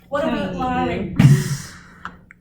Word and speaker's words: larynx: treating We would never not larynx. have one. Everybody's pronouncing larynx the correct way?